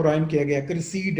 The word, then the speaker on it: Criseyde: क्रिसीड and deed, क्रिसीड deed, Troy Joy.